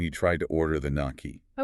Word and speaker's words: gnocchi: The waiter looked physically pained when you tried to order the gnocchi. Okay, look, I panicked. I pronounced the G and the K.